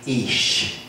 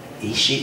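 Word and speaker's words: אִישִׁי: And it shall be at that day, says the Lord, that thou shalt call me Ish. That's actually how it's pronounced. Ishi or Ish.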